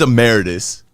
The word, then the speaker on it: emeritus: Emeritus, or I don't know how to pronounce it. I'm definitely saying it wrong, guys. Nah, we always say it wrong. No, it is emeritus.